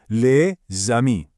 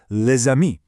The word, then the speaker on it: les amis: You pronounce the consonant and it links the two words together into one smooth sound. So for example, you don't say les amis. Nope, you say les amis.